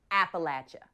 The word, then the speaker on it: Appalachia: I'm from in Appalachia go ahead say it Appalachia pronounce it correct or I'll throw this Appalachia I